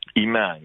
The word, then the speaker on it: IMAN: ramin a CC b of the inner-city Muslim Action Network and that's pronounced is that pronounced Iman a man a man okay all right thank you for